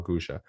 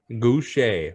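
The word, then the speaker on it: Gausha: And number 14, which you were the only one who had him ranked, was Terrell Gusha. That was not how I say his name. What? Goucher.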